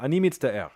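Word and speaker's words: אני מצטער: side by side, and they don't want you to pronounce it air or something, but it's two syllables, I think, is what they're trying to communicate here. So ani mitzta'er.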